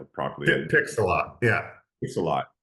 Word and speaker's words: Pixellot: Pixellot. Yeah. Pixellot. How did the Yeah. opportunity? Like lots of pixels, essentially. Yeah, Pixellot. Pixellot.